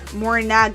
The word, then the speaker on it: Morinaga: against arenic poisoning by Morin Morinag Morinaga. I've been saying it wrong.